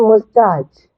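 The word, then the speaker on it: moustache: ඒකේ pronounce කරන්නේ O silent. O එකට පොඩි කතිරයක් දාන්නත් ඔයාලට පුළුවන්. නමුත් O තියෙනවා spellings වල O තියෙනවා. pronounce කරන්නේ mustache. M O S කියලා තියෙන mustache. T R C H. එතකොට O silent මෙතන mustache right?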